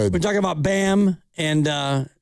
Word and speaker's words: Bam: We're talking about BAM and uh Oh, Bam rhymes with sham, by the way.